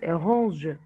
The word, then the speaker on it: range: Et faites attention, en prononce pas le ENT, on dit range.